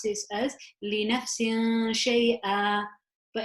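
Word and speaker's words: شَيْئًا: this as li nafsin shay'a. But if I chose to continue and I am allowed to, then I can say it as li nafsin shay'an wala. So here, if I was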